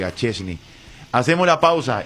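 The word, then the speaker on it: Szczęsny: ¿Por qué se pronuncia? No sé. Pero se pronuncia así. Y. Perdón, Y, Chesney.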